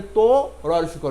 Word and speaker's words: তরু: আমরা উচ্চারণ করছি অতি তরু তরু এই যে শব্দটি হ্যা এটি ত এর সাথে যে অটা আছে সেই অটাকে আমরা ও ধরে নিয়ে উচ্চারণ করছি তওকারে ত রক রু উচ্চারণ করছি তকারে